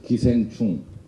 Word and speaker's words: 기생충: In Korean, it is pronounced as 기생충, so it's familiar to me.